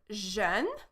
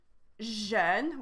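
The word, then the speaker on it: jeune: are going to see in the first one zhen we have the song uh so you see you look at my mouth I say uh but for the word Jean we have the o sound like in Boku so we have o you see the lips different shape so we have Jean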